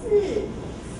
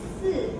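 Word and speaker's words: 四: Si. Why it means that? Si. Has similar pronunciation with si. Si means die or death.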